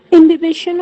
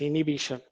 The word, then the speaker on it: imbibition: You might pronounce it as imbibition. Don't pronounce it as inhibition. Okay, it is imbibition or imbibition, however you pronounce it as.